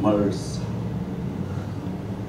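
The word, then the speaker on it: MERS: 메르스. 영어식 발음 멀스.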